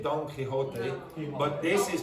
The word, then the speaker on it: Quixote: In English you say Don Quixote, but this is pronounced quixotic.